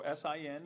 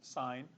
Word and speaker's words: sine: just the first three letters of them so s i n even though like students will pronounce this sin it's it represents sign and so this is s of a is